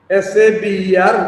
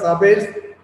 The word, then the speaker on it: saber: S-A-B-E-R is pronounced as saber, not sabers, saber.